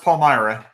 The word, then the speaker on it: Palmyra: Palyra. It's pronounced Palmyra.